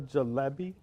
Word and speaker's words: jalebi: So would the jalebi, am I saying it right?